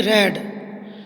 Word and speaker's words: read: Once he रेड the story of Shravan Kumar. रेड मैंने इसलिए पढ़ा क्योंकि रीड की सेकंड फॉर्म रीड ही रहती है, प्रोनाउंसिएशन बदल जाता है.